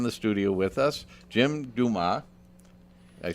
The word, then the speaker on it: Dumas: And we have in the studio with us Jim Dumas.